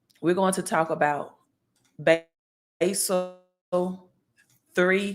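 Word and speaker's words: Basel III: going to talk about basil 3 compliance um some pronounce it as Basel three we're going to talk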